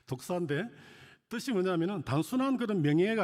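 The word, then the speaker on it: δόξα: 여기서 사용된 단어 어 영광이라는 단어는 어헬라로 독사이 뱀의 이름 독사가 아니고요. 발음이 그렇다는 뜻입니다. 독사인데 뜻이 뭐냐면은 단순한 그런 명예가 아니라 존재의 빈담, 존귀함 이런 뜻입니다.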